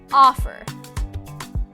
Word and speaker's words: offer: about the verb offer offer again the first syllable is stressed offer when the first